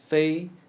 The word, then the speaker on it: 非: 非法 Fei is read like the first syllable of fable.